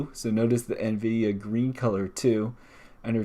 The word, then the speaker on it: Nvidia: And so NVIDIA's logo, of course, you got the green going, and you have an eye with a spiral-looking thing.